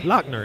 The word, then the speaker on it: Lochner: Lochner.